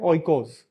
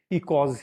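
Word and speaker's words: οἶκος: इसको प्रोनाउंस कैसे करें, तो इसको हम प्रोनाउंस कर देते हैं ओइकोस। कई बार टीचर्स भी कर देते हैं, फॉरगेट इट। तो इसकी सही प्रोनाउंसिएशन जो होगी, वो प्रोनाउंसिएशन होगी इकोज ही, ठीक है?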